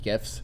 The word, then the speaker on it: GIF: like the creator of gifs they're like oh it's jiff no it's gif well again he says it it's a gift it's a gift it's a gift it's a gift it's